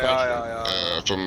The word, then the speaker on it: Kaohsiung: How do you pronounce it? Oh, Kaohsiung.